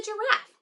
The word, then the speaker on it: giraffe: This is a giraffe. Can you say giraffe? Giraffe begins with the J sound. That is soft G.